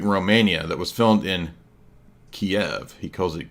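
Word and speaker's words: Kyiv: did with Newsweek Romania that was filmed in Kiev he calls it keev because he's obviously repeating what the Democratic mainstream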